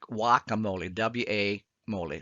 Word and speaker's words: guacamole: know that as guacamole now guacamole is spelt with a gu but actually we would in spanish we call that guacamole w.a molly so when next time you order guacamole you say guacamole in the mexican restaurant um also when